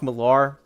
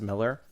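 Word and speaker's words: Millar: I always try saying Mark Malar. I know that it's pronounced or technically pronounced Miller, but Mar said on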